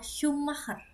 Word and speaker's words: Schumacher: Kemudian sh karena jadi sh jadi shumer. Jadi namanya adalah Mikel Schumacher.